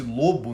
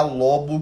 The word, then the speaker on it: lobo: qual o seu lobo favorito, né? Lobo, pra quem não sabe, a gente lê aqui como se fosse lobo, né? Mas na verdade se pronuncia lobo, que é quando a